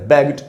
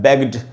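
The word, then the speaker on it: begged: का past tense है बेग्ड। तो इसमें भी कहा जा रहा है बेग्ड, इसको भी बेगेड, बेगिड ऐसे तो नहीं पढ़ रहे, तो यहाँ पर भी ई साइलेंट है।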